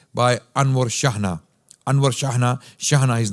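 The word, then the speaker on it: Chejne: scholar It Is by Anwar shahna Anwar shahana shahana his name is spelled his surname is spelled with c h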